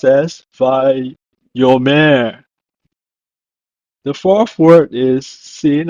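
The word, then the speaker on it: ויאמר: In Hebrew, it's pronounced as vayomer.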